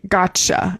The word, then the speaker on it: gotcha: We're going to say gotcha instead of got you. It's like got the T and then a Y feels like a lot to pronounce.